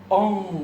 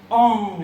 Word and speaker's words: Ong: Ong, when you pronounce it correctly. Ong, it's like you're hitting a gong. Ong. Your tongue comes up against the upper palate.